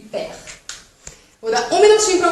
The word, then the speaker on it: père: Mère, père. Mère, père. Esse ezinho do final é como se fosse um e mudo, tá?